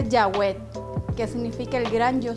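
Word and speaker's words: Yahweh: estas palabras Mira la primera frase es se pronuncia yahw que significa El gran yo soy el hoy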